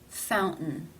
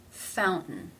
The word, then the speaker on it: fountain: In this word, it is followed by a schwa and an N sound. Therefore, it is pronounced as a stop. Fountain. Fountain.